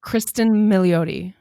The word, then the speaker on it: Kristen Milioti: Kristen Milioti.